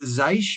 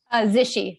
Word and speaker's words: Zishi: Yeah, our next panelist is. Yeah, like if I mispronounced the name. Yeah, it's like Zeisch, maybe. I don't know. We'll find out. How do you say it? Zishi, like rhymes with Oh, fishy.